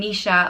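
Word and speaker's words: Naoise: The next name is Nisha, and it means warrior, and is pronounced Ni-sha.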